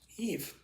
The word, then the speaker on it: Eve: They're the yees or yais, depending on how you want to pronounce it. Eve.